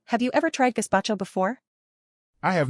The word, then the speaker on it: gazpacho: Just remember that it's not gazpacho, it's gazpacho. Got it.